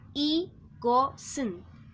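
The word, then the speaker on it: 이것은: Se escribe i-got-un, pero se pronuncia i-go-sun.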